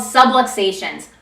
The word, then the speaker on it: subluxations: Misalignments in your spine are called subluxations, rhymes with subway stations, and they can put pressure on those nerves.